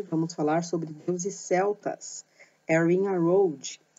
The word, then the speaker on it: Arianrhod: Aqui está escrito separadamente, como vocês estão vendo aí na imagem, mas o nome dela não é separado, tá? É junto. A pronúncia seria Erin Arroud, ok?